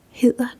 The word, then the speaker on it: hedder: And what you would say then is, "Hvad hedder du?"